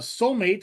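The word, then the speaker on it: Soulm8te: Fun fact, the title is pronounced soulmate and the eight connects it directly to the AI model numbering used for Megan, which has a three, not Becca, but Megan.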